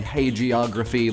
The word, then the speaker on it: hagiography: Bell thank you for the pronunciation guide hagiography like hey geography I should probably just